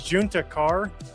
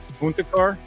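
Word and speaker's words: Juntakharr: But it was a it was Juna Carr. Um, which was a Star Wars name, and you kept pronouncing it Hispanic because of Texas.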